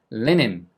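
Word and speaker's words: linen: 말씀을 넣으시면 안 된다는 뜻이에요이 단어를 린넨이 아니고 레닌 레닌 얘도인 발음이거든요 얘처럼 캡틴처럼 그런데 실제로 원어민은 어떻게 발음한다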